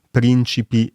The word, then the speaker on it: prìncipi: significato della parola, appunto come negli esempi della prima domanda: ancora e ancora, principi e principi.